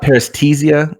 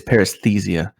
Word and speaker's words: paresthesia: signifies oh yeah no it's not parestesia it's paresthesia it just rolls off the